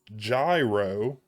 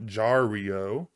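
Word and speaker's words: Jairo: And I am just now realizing it's Gyro, not Jario. I've been pronouncing that incorrectly this whole time, so apologies there.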